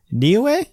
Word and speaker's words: Niue: In the country of, I'm going to mispronounce this, Niue? I'm going to look this up, actually, the pronunciation. Niue, yes. Niue. I did say it right.